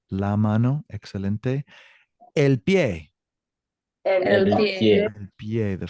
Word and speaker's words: pie: Now, it's not pie. El pie. Pie. Remember, pronunciation is exactly how it's spelled.